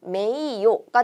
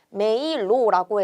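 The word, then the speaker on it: 名誉: 읽는 방법은 메이요가 됩니다. 그런데 메이로라고 해서 요처럼 같은 오단에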